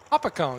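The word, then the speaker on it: Hopatcong: Lake hopatong New Jersey I Need a New Jersey uh pronunciation hopatang even the new jerseyans like oh up at Kong there we go see um wonderful place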